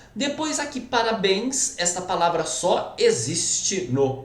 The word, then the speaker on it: parabéns: Depois aqui, parabéns, essa palavra só existe no plural. Tá? Meus parabéns, os parabéns. Então vamos lá, pessoal. Parabéns, sílaba tônica é o bens, evidentemente.